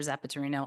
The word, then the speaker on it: Zapaterino: Okay, next, I would like to invite Miss Zapatero. And address 2275 Los Lobos. And the topic statement to the board. My name is very hard to pronounce. It's Zapaterino, also known as Zapaterino in this community.